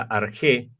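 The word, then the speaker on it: ἀρχή: la palabra G 476 que se pronuncia arg entonces la Biblia dice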